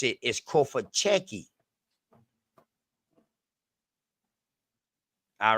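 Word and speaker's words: Cofitachequi: So this right here, so the ITA ain't even pronounced.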